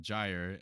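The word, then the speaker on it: gyre: Pronounce sy as if it were the two words sly the make the g hard as in gy and gimble.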